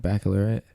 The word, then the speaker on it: baccalaureate: Baccalaureate.